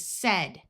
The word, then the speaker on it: said: Ai has the short e sound. So this is said.